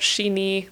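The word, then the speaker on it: 四十二: like birth difficulty and then 42 can be pronounced shini like to death or yeah I just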